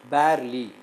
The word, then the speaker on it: barely: Barely, bear, bear, bear. When you utter this one separately, that E has got no sound.